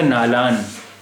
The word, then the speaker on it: नालां: तो ये हो जाता नालान। नुक्ता नहीं है यानी बिंदी नहीं है, इसका मतलब ये नून गुन्ना है। और अब इसका उच्चारण हुआ नालां, नालां।